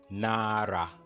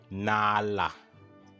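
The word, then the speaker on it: 나라: For example, these words would be pronounced as Nara, Nara, which means country in Hangul, and it shouldn't be pronounced as Nala.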